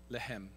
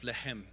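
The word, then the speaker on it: לחם: Okay, the Hebrew word for bread is lechem. That's what's pronounced lechem with a little in your throat.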